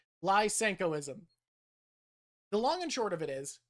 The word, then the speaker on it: Lysenkoism: So, lenkoism, lenkoism, it's spelled like that. I was adding an sh. It's an s. Lenkoism. Lysenkoism.